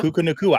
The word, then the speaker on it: Puka Nacua: No, I said Puka Nacua. I might have said Pua.